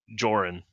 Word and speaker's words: Diornan: I'm gonna look up at Holnar and at Diornan and be like, "Is it Diornan, by the way? Is that how you pronounce it? Diornan? The D is silent. So Joran.